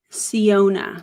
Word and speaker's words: Syona: in and she's going to share a little ciona that's how you say it I'm also going